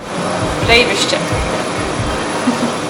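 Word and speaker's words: Breyðvirkið: It's pronounced Breydvirkid.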